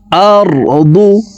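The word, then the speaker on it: أَرْضُ: দদ হরফকে মোটা করে উচ্চারণ করব। আমরা অনেকে দদ হরফের উচ্চারণ দালের উচ্চারণ করে থাকি, দদ পেশ দু পড়ে থাকি। দু হবে না, পড়তে হবে এভাবে, দদ পেশ দু, দু আরদু।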